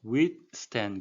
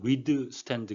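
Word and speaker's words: withstand: 주의 라는 뜻이니 겠습니다 우리 둘 땐 예 발음에 유의 하셔야 되는데요 위 스탠 그래서 위드 스탠드 가 아니고 왜 이 끝나고 스탠드 바로 등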